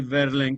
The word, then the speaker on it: Verlaine: escribe Baudelaire, Rimbaud, que se escribe Rimbaud, y Verlaine, que se escribe Verlaine.